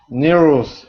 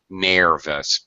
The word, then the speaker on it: nervous: People want to pronounce it nervous, but it's actually the sound, just like bigger, faster, stronger, smaller. It's the same sound.